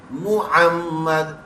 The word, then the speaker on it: मुहम्मद: एच से करते हैं वो मो मो कर रहे होते हैं और जो एम यू से करते हैं मु वो मु होता है वो मो नहीं होता मुहम्मद तो सही स्पेलिंग अरबी